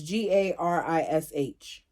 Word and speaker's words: garish: I don't think I said that right garish jarish Alexa how do you pronounce g a r i s h okay here's pronunciations it is pronounced as Gish